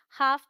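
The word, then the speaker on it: half: Alright, तो ये है काफ, देखिए AL है, काफ पढ़ेंगे, L साइलेंट, हाफ पढ़ेंगे इसे।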